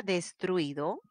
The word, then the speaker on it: destruido: empezamos en la palabra destruido mi pronunciación la mayor fuerza de voz destaca a la penúltima sílaba por lo tanto es grave entonces inmediatamente digo oigan